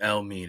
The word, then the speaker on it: Elmiene: Remember the name El Mean. It's spelled ELMIENE.